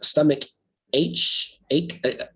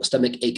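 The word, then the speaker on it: stomachache: bit by bit which is nice um another mispronunciation was someone said uh stomach h ache my wife does the same thing so it's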